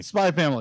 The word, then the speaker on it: Spy x Family: called uh spy family spy family the x is silent oh okay it is